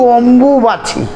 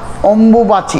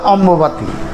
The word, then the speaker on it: অম্বুবাচী: কেউ নানা রকম ভাষায় বলে একচুয়ালি যদি স্পষ্ট উচ্চারণ অথবা প্রকৃত কথা হয় সেটা হচ্ছে অম্বুবাচি অম্বুবাচি এর নামটা কিন্তু অম্বুবাচি অম্বু একটা শব্দ অম্বিকা মায়ের থেকে এটা এসছে একদম অম্বিকা মায়ের থেকে আসাতে অম্বুবাচি এই শব্দটা কিন্তু কেউ বলে না সবাই বলে